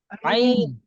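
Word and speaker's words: عين: আইন আইন আইন আইন একদম ভিতর থেকে আসবে আলী আইন হ্যাঁ এটা যেন ভুল না হয় কারোর সকলে একটু আইনটা কারণ আইনটা অনেক কঠিন হ্যাঁ এটাই হলো কঠিন আইন এবং দ আইন আইন আইন দই আইন ভিতর থেকে ভিতর থেকে আসতেছে হ্যাঁ আইন ভিতর থেকে আইন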